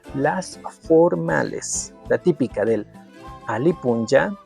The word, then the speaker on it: alli puncha: Vamos con las formales, la típica del Alipunja. En la escritura estás viendo ayi alli puncha, pero la pronunciación es ali punja.